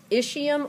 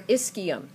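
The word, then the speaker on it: ischium: are your seat bones this is the isum or isum okay um either one is fine whatever you're more comfortable saying as long as you can spell it I like isum because it kind of reminds me to put the CH in there is CH i m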